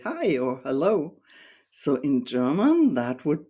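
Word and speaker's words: Hallo: German word for hello hello so it's almost written the same just with an a sound as the first vowel and as for the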